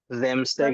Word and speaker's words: Samstag: Starting S is a Z sound. Samstag Sorry?